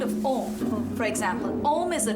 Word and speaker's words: Om: Om contains 3 syllables, Ah, Oo, and So the Ah comes